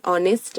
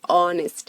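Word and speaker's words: honest: एक ईमानदार आदमी है ही इज अ ऑनेस्ट मैन गलत हो जाएगा करेक्ट सेंटेंस क्या हो जाएगा ही इज एन ऑनेस्ट मैन ऑनेस्ट यहां पर हमने क्या ध्यान दिया अगेन साउंड पर ध्यान दिया वे हिमालय में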